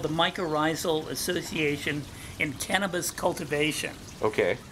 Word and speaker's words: mycorrhizal: to talk to us a little bit about mycorrhizal did I pronounce it correctly yeah he taught me how to say it correctly mycorrhizal uh um associations associations with fungus so we're